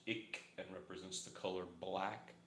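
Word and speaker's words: Ik': All right, for those of you who don't know, this is a glyph from Maya culture, Mayan glyph, which I understand is pronounced ik and represents the color black and is associated with the west to the Mayans, the Mayan people.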